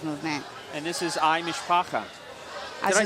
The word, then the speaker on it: Mishpacha: I was also saying some people pronounce it with like the U, Mishpacha.